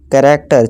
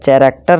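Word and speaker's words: character: दोस्तों machine chair reach कैरेक्टर चरेक्टर नहीं करैक्टर ठीक है दोस्तों कोरस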